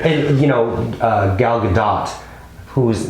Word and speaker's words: Gadot: you know uh gal gadot whose name i feel did i mispronounce that in another film you have yes it's good it doesn't rhyme with the dough which i knew that